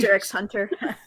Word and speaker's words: Hunter x Hunter: spy family I'm confused Hunter x Hunter my brother H roded me on that one it's like we actually you don't you're not supposed to read the X and like yeah I